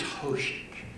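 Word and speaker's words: Hózhǫ́: The word is Hozh’q. H-O-Z-H apostrophe Q is how it's spelled.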